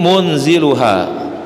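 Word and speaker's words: مُنْزِلُهَا: Bitakhfifi dibaca dengan tanpa tasydid, munzilu gitu. Wa tasydidi dan dengan tasydid, munazzilu. Jadi boleh bacanya qalallahu inni munziluha, satu, qalallahu inni munazziluha, ya. Kalau munziluha itu nuruninnya sekaligus.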